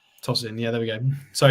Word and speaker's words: Tosin: So just call him Tosin. Toss in.